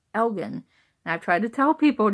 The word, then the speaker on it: Elgin: she's like so you know like he said algún it's sitting in Scotland she said it's spelled ELG I n as I oh you mean Elgin it's like not algún it's actually pronounced Elgin